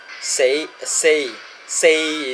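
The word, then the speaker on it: 四: and the number four say say say is the proper pronunciation of four in cantonese but you tweak it a bit with the intonation you get say say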